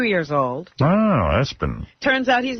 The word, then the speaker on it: ESPN: And they do pronounce it Espen.